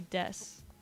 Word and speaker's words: desu: And but it's spelt D-E-S-U, and so usually in Japanese that would be pronounced desu, but in this specific context the U on the end isn't pronounced, so it's just des.